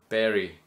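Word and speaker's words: Bury: B you bu you Berry is it Berry bu it's spelled be Ur y somewhere near Manchester anyway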